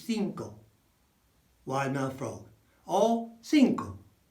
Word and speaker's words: cinco: So every time you see a C followed by an I, or a C followed by an E, then the E or the I following, that turns it into a th sound or a s sound.